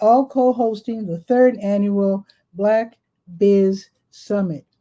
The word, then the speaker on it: BLK: co-hosting the 3rd annual Black Biz Summit. It's spelled BLK, then BIZ Summit, Black Business Summit.